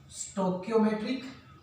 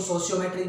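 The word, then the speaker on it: stoichiometric: हैं, कौन कौन से, स्टोकियोमेट्रिक, प्रोनाउंसिएशन में भी डिफरेंट, कोई इसको सोशियोमेट्रिक बोलते हैं, है ना, दैट डिपेंड ऑन यू। आप इसको सोशियोमेट्रिक भी बोल सकते हो, स्टोकियोमेट्रिक भी बोल सकते हो।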